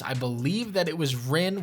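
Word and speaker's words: Rynn: believe that it was Ren which is spelled r y NN if you guys want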